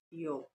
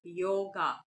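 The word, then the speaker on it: योग: principles of K yog when you talk about yog we talk about yog it is not yoga because the pronunciation of Sanskrit varies vastly with that of the pronunciation of English so if you try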